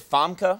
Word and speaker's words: Famke: movie Golden Eye please Welcome to our program FKA Jansen ooh little fun soundtrack huh yeah very nice am I saying that right is it FKA I know that's great that's really good actually